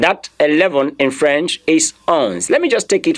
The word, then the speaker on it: onze: Please, your pronunciation is onze. If I were you, what I'm hearing as an English, as an Anglophone person, I'm hearing U-N-Z in my pronunciation. And the moment I hear U-N-Z, I'll simply say onze.